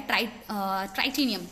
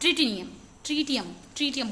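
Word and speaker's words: tritium: जो दूसरा होता है ट्राइटेनियम, क्या है, हाँ, ट्रीटियम बोलते हैं उसको, ठीक है, ड्यूट्रियम सही स्पेलिंग लिखी थी, TR।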